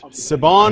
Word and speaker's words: Siobhan: It's Irish. Siobhan. Imagine it's a V-A-N at the end.